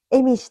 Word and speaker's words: 毛人: き、毛の人と書いて恵美氏と読んだのではないかと言われています。